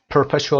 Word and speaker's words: perpetual: Perpetual رو ببینیم واژه‌شو. Perpetual بریتیشش perpetual آر تلفظ نمیشه.